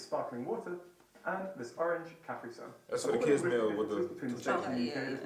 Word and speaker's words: Capri Sun: You're putting the emphasis on the completely wrong part of the word.